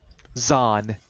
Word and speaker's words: Zahn: Zahn. I'm being And pedantic, as in but that's how you pronounce his name.